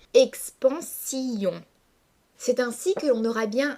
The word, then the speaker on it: expansion: l'expansion des choses infinies expansion se prononce habituellement en trois syllabes expansion mais afin de respecter la métrique du verre le lecteur va devoir dissocier les deux voyelles de la dernière syllabe et prononcer expansion c'est ainsi queon aura